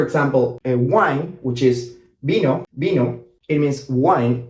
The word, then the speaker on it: vino: So if you say, for example, a wine, which is vino, it means wine, right?